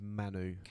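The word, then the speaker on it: Mainoo: vote between Lewis Miley and um how we pronouncing this his first name is Kobe I'm GNA go with Manu yeah that's the one Manu Manu um both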